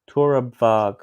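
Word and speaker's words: Torabhaig: I think the Bicky, Torabhag, Torabag, that's it. Torabag. That sounds Yeah, see, reasonably pronounced.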